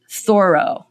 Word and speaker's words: Thoreau: There's a literary reference to, let me try to say it right, Thoreau, that's what you're supposed to say, and Walden Pond.